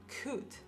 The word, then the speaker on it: could: Sin la L. No se pronuncia la L.